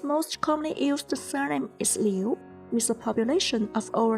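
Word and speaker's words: 刘: The pinyin of character Liu follows the second tone, so it is pronounced as Le, Yu, Liu. If you would like to, you can follow me. Le, Yu, Liu, Le, Yu, Liu.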